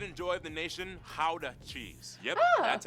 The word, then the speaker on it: Gouda: pride and joy of the nation, Gouda cheese. Yep, that's how you pronounce it, guys.